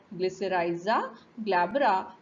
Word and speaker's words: Glycyrrhiza glabra: So it is pronounced as Glycyrrhiza glabra, belonging to the family Leguminosae, and it is